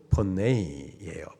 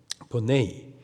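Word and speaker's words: φωνή: 여기서 소리라는이 단어가 헬라식 발음으로 포네이에요. 본네이. 포네이.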